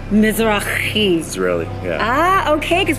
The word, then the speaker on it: Mizrachi: If you want to pronounce it right, it's Mizrachi. Mizrachi.